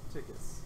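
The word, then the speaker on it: Stikus: If you have any complaints, my name is Stickus. That's spelled S-T-I. S-T-I-K-U-S? Every time you guys walk up on stream, I hear about it. Yeah, that's S-Tickus. Yeah, I've messed up. Yeah, Tickus.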